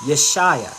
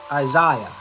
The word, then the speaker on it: Yeshaya: The right pronunciation is Yeshaya. Okay? So if you say Isaiah in Hebrew, the real pronunciation is Yeshaya, not Isaiah.